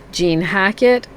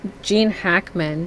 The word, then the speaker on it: Gene Hackman: So here we have Behind Enemy Lines, Gene Hackett, and right, that's how you say his name, right? Gene Hackman.